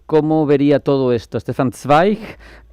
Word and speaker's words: Zweig: Sí, a ver, Antonio, para que tengas toda la información, le he pasado escrito Stefan Zweig, que no sé decirlo, porque como Rafa tiene un alemán estupendo y perfecto.